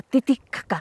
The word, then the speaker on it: Titicaca: Así me dijeron que se pronuncia Titicaca.